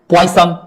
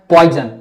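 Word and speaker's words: poison: अब जैसे देखिए सन, तो ये भी तो सन होना चाहिए, पॉइसन, सन पॉइसन नहीं, इसको क्या पढ़ते हैं पॉइजन, क्या पढ़ते हैं पॉइजन।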